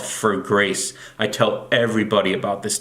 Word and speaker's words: For Grace: my favorite food documentary on Netflix it's called fur grace I tell everybody about this documentary it's for grace it's spelled fo r it's about this man in